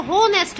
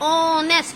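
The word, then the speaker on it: honest: हाँ जी, इसकी जो प्रोनाउंसिएशन है, यहाँ पर जो एच है वो साइलेंट है. मैं इसको होनेस्ट नहीं बोल रही हूँ. आई am speaking ऑनेस्ट. एच is silent.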